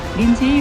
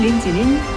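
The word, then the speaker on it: Lindsay: 세월 무상만 외치는 중 흔히 알려진 린제이 로한이란 표기는 실제 발음을 고려치 않고 알파벳만 보고 대강 쓴 잘못된 표기, 이런 이름들이 한둘은 아니지만 우선 이름 린지는 린지로 표기하는 게 외래어 표기법에 맞다.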